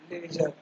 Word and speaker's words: ledger: Posting in किस में, लेजर, D silent है ना लेजर का।